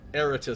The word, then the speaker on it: Eritis: Eritis sounds better than Eritis. Put the accent on the first syllable.